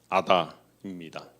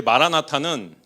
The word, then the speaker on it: 마라나타: 이 말씀이 아람어로 하면은 마란아다입니다. 처음 하셨죠? 예. 근데 마라나타는 이 마라나다의 헬라어 발음입니다. 그래서 헬라어로 마라나타 이렇게 해서 우리가 마라나타로 이렇게 찬양을 드리죠.